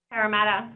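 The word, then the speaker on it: Parramatta: And those of you wa in how is it pronounced? Paramada. Is that right? Paramata. Okay.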